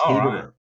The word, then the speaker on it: Hederer: It's really the German pronunciation. It's Hederer.